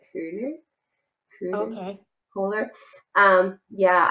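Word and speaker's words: Köhler: you haven't there's probably kohler and i know i don't say his name right i have a german friend of mine said it's something that cooler true okay cooler um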